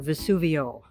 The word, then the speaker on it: Vesuvio: Martin, San Martino, and again, Vesuvius off to the corner, or Vesuvio. Vesuvio is the Italian pronunciation, Vesuvius is the Latin.